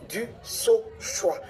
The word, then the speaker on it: Dusauchoy: Ces derniers temps, vu euh que je suis beaucoup citée, chacun y va avec sa prononciation. Je suis du saoix. Faites un effort.